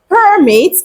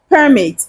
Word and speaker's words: permit: to move something around permit and what about permit permit is to allow to happen to Grant permission when you allow something to happen or when you grant someone permission to do something that is a verb